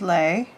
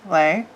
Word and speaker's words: Les: This is Lay. L-E-S, Lay.